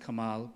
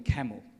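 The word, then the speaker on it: Kamahl: Australia for many years Kamal and I'm not pronoun mispronouncing his name he changed his name to be pronounced Kamal because the the Australians would call him camel once they smashed white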